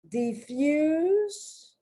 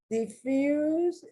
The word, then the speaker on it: diffuse: that distinction, is that in the first one, diffuse, the S is being pronounced like an S, and in the second one, diffuse, diffuse, diffuse, the S is being pronounced like a Z.